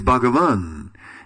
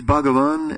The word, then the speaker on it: Bhagavan: Krishna is Bhagavan, and Jiva Goswami explains Bhagavan as, he breaks it up in 3 syllables, Ba, Ga, and Va, and then says, Ba stands for Bhajaniya, Ga for Guna, and Va for Vasista.